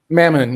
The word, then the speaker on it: Mammon: don't you tell us a little bit about mammon i that's how you pronounce it right mammon yeah it's um god or demon right demon